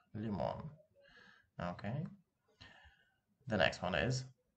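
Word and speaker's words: лимон: Let's say the word lemon, lemon. In Russian would sound like limon, limon.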